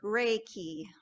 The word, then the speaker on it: Reiki: So this strange word, Reiki, it's Japanese. It's pronounced Rei, like rays of the sun, and Ki, like you're going to use a key to unlock something.